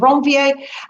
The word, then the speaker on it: Ranvier: are called nodes of ranvier guess the guy who discovered those was french so that's the proper way to say that the nodes of wrong va and they are literally